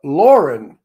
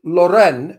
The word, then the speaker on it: Loren: it's not her name it's Sophia Lauren but everybody makes it Loren which it's not and